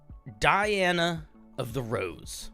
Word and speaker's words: DianaoftheRose: you thanks for having me so you are Diana of the rose that is the pronunciation yeah you got it you nailed it